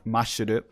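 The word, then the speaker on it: マッシュル: Because in Japanese it's Mashuru, which is katakanized.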